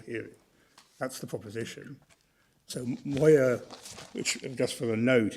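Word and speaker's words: Maaouia: First, article six does not apply to cases concerning the expulsion and then mo that's how you pronounce it against France is cited that is at bundle authorities uh volume 13 page 182 say 152.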